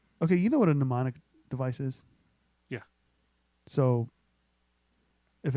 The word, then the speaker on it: mnemonic: was, okay, you know what a mnemonic device is? Yeah. So if anybody doesn't know what a mnemonic device is, first of all, it begins with an M.